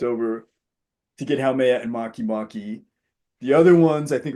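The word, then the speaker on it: Makemake: And Maki Maki, which is spelled make make those the like just like writing make next the two words next to each other as one word.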